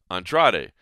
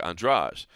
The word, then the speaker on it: Andrade: Jessica Andreas right now before we knew that that was the pronunciation you probably would have said Andrade but now we know there's that real uh pronunciation and uh so it's Jessica andrage but one they say